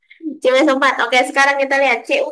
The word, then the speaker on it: CuSO4: Bacanya CuSO4 ya, bukan Cesuo. CuSO4.